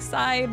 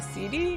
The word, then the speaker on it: CD: and now my username I know it looks like side but it's actually CD because it's just my